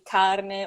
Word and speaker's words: carne: okay, I need to, make sure I pronounce the R, the letter R in carne, or I need to make sure I linger a little bit longer on the N in penne.